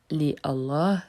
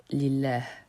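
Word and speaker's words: لله: Tu remarqueras également que le premier a ne se prononce pas. On ne dit pas li Allah mais lillah. Segment numéro 4.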